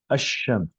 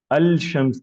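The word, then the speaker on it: الشمس: लेकिन अगर हम बोलते हैं शम्स पे अल आए, अशम्स, अल शम्स नहीं बोलते, अशम्स।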